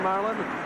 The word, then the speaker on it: Sterling Marlin: Pole setter Harry Gant runs behind Benny Parsons, ahead of Sterling Marlin. Remember, the G is silent.